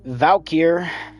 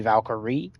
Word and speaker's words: Valkyr: Vubon, Valkyr, Valkyr, or Valkyrie is either fine, but it's actually supposed to be Valkyrie. Okay.